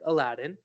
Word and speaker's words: Aladdin: So Aladdin, like Aladdin, it's properly pronounced Aladdin, is a We'll uh, talk is about a that very good in future restaurant.